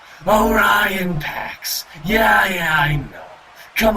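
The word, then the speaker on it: Orion Pax: talking to me or on PEX yeah just hurry over and make sure nobody's looking um it's actually pronounced Oran PX yeah yeah I know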